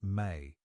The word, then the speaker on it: me: The specific knowledge the appcallu impart includes what the Sumerianss call me pronounced may a concept that's difficult